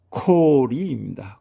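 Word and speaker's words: こおり: 여기서도 오라는 장음이 붙어 있습니다. 코리입니다.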